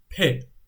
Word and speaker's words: پ: The syllable is pe. Pe. Pe is like be, but it has two more dots. And it sounds like P, which is not B, you know.